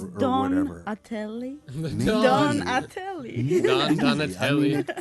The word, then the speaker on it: Donatelle: So he got sick of that, and so he changed the spelling to LLE, but he still pronounced it Donatelli. And the police kept on giving him trouble. So then he decided finally just to make the E silent and not bother with the paperwork to change the spelling again. So it just became Donatel.